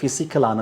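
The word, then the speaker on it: physical: பிசிகல் செயற்பாடுகள் என்றால் நாங்கள் அசைத்த அசைதல் போன்ற செயற்பாடுகள் பிசிக்கலான செயற்பாடுகள் என்று சொல்லலாம். இந்த பிசிகல் என்ற சொல்லை பாருங்கள். பிச் பி ஆரம்பிக்கும் எந்த சொல்லும் பிச் இணைந்து அந்த சொல்லுக்கு எப் என்ற ஒலியை தரும் பிசிக்கல் என்று உச்சரிக்க வேண்டும்.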